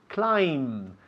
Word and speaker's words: climb: Climb. La B al final is muda. Climb. We don't say climb.